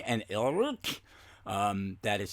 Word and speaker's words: Alrrk: The villains are Skysnik and Ilruk. That is spelled SKYZZNX and ALRRK.